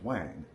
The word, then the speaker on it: Huang: uh one quick note Wang if you'll notice is spelled h UA n g that is the first emperor of China one of his names it's Wang and he is credited